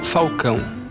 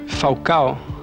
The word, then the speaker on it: Falcão: Il nome mio si pronuncia Falcão, però è come il tifoso romanista e mi chiama di Falcao, adesso mi chiamo Falcao.